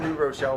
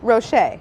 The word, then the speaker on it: Rocher: I don't think I've ever pronounced this candy correctly. I just call them New Rochelle balls. New Rochelle? New Rochelle Like balls. New Rochelle, New York. What are they called? Ferrero Ferrero. Rocher. Rocher.